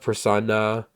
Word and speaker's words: persona: And he says, note he enunciates na of persona, which is a pronunciation of me that made the end rhyme of the two previous verses. Oh, okay. So it's like me. So he's saying it like nah, me.